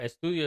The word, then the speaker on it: estadio: Estadio is like a studio.